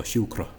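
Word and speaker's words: siúcra: Then she mispronounces the R as what's called an approximant R, so that the tongue comes close to the alveolar ridge or whatever part you're pronouncing. And this typical English R, whereas in Irish it's typically a tap. So shukra, just one short R, and it's gone.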